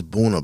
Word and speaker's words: Buna: getting them mixed up but it's buna buna not banana burn without all that buna yeah like buna y'all